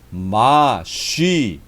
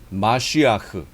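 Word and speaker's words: מָשִׁיחַ: 그리스도의 원 발음은 뭐냐면 마쉬아흐예요. 마쉬아흐. 이게 원 발음이에요. 마쉬아흐.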